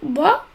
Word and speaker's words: bas: C'est aussi le cas de l'adjectif bas. Son féminin, on dit basse.